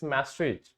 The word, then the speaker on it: Maastricht: It's Maastricht. T is silent. M-A, Maastricht. T-R-I-C-H-T. ठीक है? Maastricht we call it. T is silent.